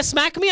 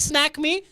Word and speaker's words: Snack Me: sponsored by snack me I didn't say smack me I said snack me for people who didn't hear it I spell it again s n a c k snack me not smack me the management is taking